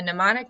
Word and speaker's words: mnemonic: a mnemonic device so the M and mnemonic is silent a mnemonic device or a memory